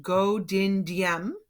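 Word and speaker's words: Ngô Đình Diệm: they had their own leader his name is pronounced Ngo Dinh Diem and he was not a communist but he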